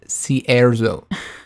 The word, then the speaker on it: Cierzo: I want you to call off your war against the Cierzo, and it's pronounced Cierzo. There's a fucking R.